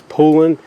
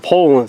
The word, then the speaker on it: Poulan: by uh I think the correct way to pronounce it is pulling I used to always call them Poland that's what I've always heard was you know the Poland chainsaws but I had somebody correct me one time and I believe it's